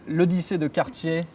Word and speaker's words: L'Odyssée de Cartier: It is by Cartier, and the collection name I might need your help with pronouncing. Of course, with pleasure. So it is named L'Odyssée de Cartier, Parcours d'un style.